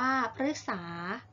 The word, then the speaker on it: พฤกษา: ฤดู ฤทัย อ่าน ว่า ฤทัย พฤกษา อ่าน ว่า พฤกษา เดี๋ยว เรา มา ดู ตัว อย่าง คำ กัน